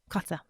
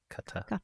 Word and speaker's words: Qatar: Qatar. Thank you. No one pronounces it right. No one does. Qatar, exactly.